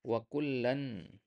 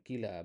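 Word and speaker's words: وكلا: Nah, begitu juga wa kullan, ya, contoh yang kedua surat Al-Hadid ayat 10, wa kullan, ya, dan ya, ya bukan kila bacanya di situ, ya.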